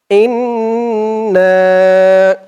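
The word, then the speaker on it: إنّا: আপনাদের মুখস্ত হয়ে যাবে তো বলুন আমার সাথে ইন্না হামজা দিয়ে নুন ধরবে হামজা নুন জের ইন ওয়াজিব গুন্না হরকতের পরে নুনের উপরে তাসদিদ হামজা নুন জের ইন নুন আলিফ জবর না এখানে তিন আলিফ টান হবে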